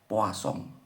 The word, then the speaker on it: Poisson: Nah, di dalamnya nanti kita akan membahas tentang distribusi binomial dan distribusi poasong. Nah, ini ya. Ini bacanya poa song.